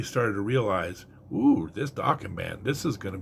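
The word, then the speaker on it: Dokken: One of the others, like if there was a big four, I think one of the others would be Dawan. Uh they rhyme with rocking.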